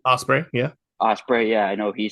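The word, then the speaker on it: Ospreay: do you say his last name ospre yeah Osprey yeah I know he says he wants it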